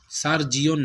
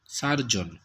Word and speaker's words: surgeon: আচ্ছা, তারপরে হলো শল্য চিকিৎসক, ঠিক আছে, এটা হবে সার্জন, সার্জিয়ন নয়, সার্জন, SURGEON, এই যে SURGEON, সার্জন।